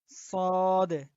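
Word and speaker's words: صاد: তো আজকে আমরা এখান থেকে শুরু করব, সদ থেকে শুরু করব। আচ্ছা, এটা হলো সদ। সদ। তো এটার উচ্চারণ আমরা জিহ্বার আগা থেকে করব, একটু চ্যাপ্টা করে।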